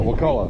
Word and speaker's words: Wakulla: So, if you're here, what how do you pronounce it? Wakulla.